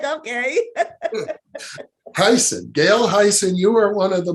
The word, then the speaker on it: Hayssen: also speaks to the fact that you gail hasten it's really it's pronounced heisen many people say i said i've been mispronouncing your name for all these programs it's okay i'm just like okay tyson gail heisen you are one of the most open-hearted people